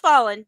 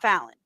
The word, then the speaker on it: Fallen: Fallen, like past tense of fall? Fallen. Yes. Okay. Pronounced Fallen, not Fallon.